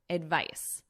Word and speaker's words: advice: to take medication advise advice so notice the pronunciation difference advice advise advice advise this is our noun and this is our verb spelling difference and pronunciation difference as well this includes a non-drowsy